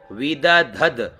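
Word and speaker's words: विदधद्: अहो रात्राण अहो रात्राण विद धद ध और आधा द तो विद धद विश्ववस्य तो यहां वी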